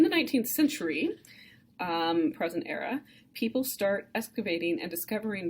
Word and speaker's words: Ur: major discoveries is the ancient city of er er is spelled you are so if you're using